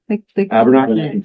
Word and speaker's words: Abenaki: Abenaki. Well, I know, we call it I want to say Abenaki. both pronunciations are correct.